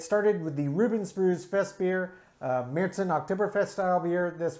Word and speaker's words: Festbier: They call this one Festbier. That is aptly named, and they do spell it properly, B-I-E-R. I before E in German makes an E sound. E before I makes an I sound.